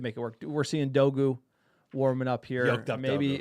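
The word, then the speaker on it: Dorgu: Um, so you know, Dogu really everyone thinks it's Dogru. Look it up. It's Dogu. R is silent.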